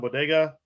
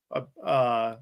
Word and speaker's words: Boyega: But like you could go ahead, you could bring a bunch of people in, like John Bodega. Boyega.